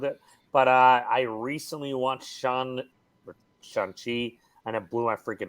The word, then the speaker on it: Shang-Chi: It's pronounced Shang-Chi.